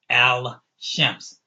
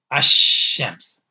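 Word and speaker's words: الشمس: You don't pronounce the lam. You jump over the lam to the first letter of the word, which is sheen, and it has a shadda on it.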